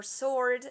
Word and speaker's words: sword: t is mute or sword the w is mute and uh a word